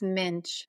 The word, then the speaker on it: Meunich: It rhymes with pinch. It's minch.